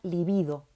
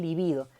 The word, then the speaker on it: libido: en todos los alumnos se pronuncia líbido si no líbido se pronuncia el libido libido es otra que está